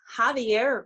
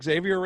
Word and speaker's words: Javier: don't know but it's javier reyes did impress me mm-hmm yeah oh so we were saying xavier is we were saying it wrong yes whoops well but